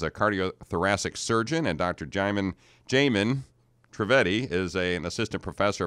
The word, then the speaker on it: Jaimin: Miss Jaimin, right? Yes. Am I pronouncing that correctly?